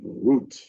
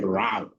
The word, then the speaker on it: route: I pronounce that word root. I know most of you say route. Route is a the US word. The British one is root.